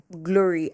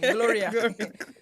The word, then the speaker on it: Glory: driver or something and I was like glory and then he was like Chloe and I'm like no glory as in glory to God as in G l.